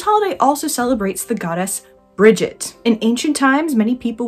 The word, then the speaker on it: Brigid: and I'm going with the pronunciation of Brigid, as it's the one I've heard the most.